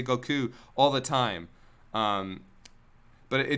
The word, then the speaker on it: Goku: They say Goku all the time. But it just bothered me because his name is Japanese, and I always pronounce Japanese the way it's supposed to be pronounced.